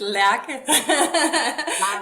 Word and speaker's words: Lerche: But if you read it, my Americans, y'all might say Lerche. But it has a Danish. Can you pronounce it for us real quick? Yes, it's Lerche. And Lerche is perfect. I would pronounce it that way in English too.